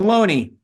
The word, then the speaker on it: Ohlone: I'm not sure how to pronounce the Olone people. Ohlone.